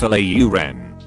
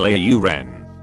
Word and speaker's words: Lauren: When people pronounce Ralph Lauren as Ralph Lauren. I mean that's not even his real last name, but it's not the point. Ralph himself confirmed it's Lauren.